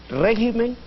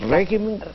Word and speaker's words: régimen: Régimen, que al volverse plural se convierte en regímenes, y carácter, que al irse al plural se vuelve caracteres.